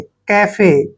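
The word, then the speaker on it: cafe: गाड़ी next word देखिए सी ए एफ ई देखिए सी ए का उच्चारण हम क्या कर रहे हैं के ठीक है एफ का उच्चारण क्या करेंगे फ और ई को एक की मात्रा पढ़ेंगे कैफे कैफे कैफे को होता है जहां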